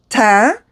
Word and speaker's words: teint: Touche Éclat le teint. You do not pronounce the T. So E-I-N is un. Just pretend the E is not there either.